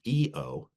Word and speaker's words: io: The other interesting matter with this is that once Oxford becomes enamored of all things Italian, he realizes that EO, spelled IO, but pronounced EO, means I.